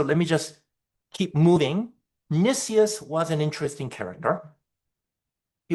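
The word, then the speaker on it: Nicias: At this point, enter uh Nissius. I think some some people say Nus. Um I checked. Uh I think the proper pronunciation is Nissus.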